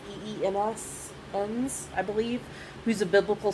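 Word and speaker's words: Enns: week they had pete i think it's ends is how you pronounce it i think it's e-e-m-s ends i believe who's a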